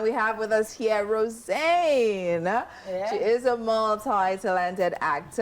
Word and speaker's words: Rosanne: like hm not rosane so which is it TI is right rosan oh God so em pronounced it as rosan oh wow so you probably get a lot of different different Roan roxan roxan so it's rosan rosan just say Rose is fine but now so You'